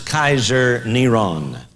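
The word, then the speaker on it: קיסר נרון: five volume set this his name was pronounced as Kaiser neron and you can see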